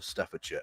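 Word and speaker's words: Staffordshire: three counties, those being Warikshire, Staferture, and Worersha. And yes, for any Americans watching, that is how you pronounce those place names.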